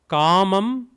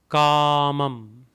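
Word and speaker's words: कामम्: Kamam, Kamam, Kamam. A with a bar, so it is ka. Had it been without a bar, it would be kamam.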